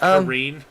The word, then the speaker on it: Karen: It's pronounced Kareen.